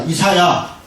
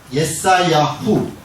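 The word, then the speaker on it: ישעיהו: 자, 어쨌든 자, 그런 정도 배경을 얘기를 하고, 자, 이사야, 예사야후, 이게 원래 이름이에요. 발음이 우리는 이사야인데 이 히브리어로는 그냥 예사야후, 후가 들어가 있어요.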